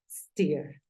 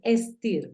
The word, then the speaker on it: steer: traducción y como la pronuncias en este caso es steer stear no es stir porque el sonido en